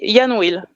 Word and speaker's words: IANWILL: Um we say Yan will just Yan.